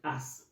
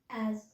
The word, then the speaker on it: as: word A and S most of us call it us was it called as as yeah if you follow um English with Biology on Instagram she decently pronounced this word and I did call my son I said um can you pronounce this word a s I said this as please if you're like me that have been pronouncing this word as us learn today that it's not called us it is called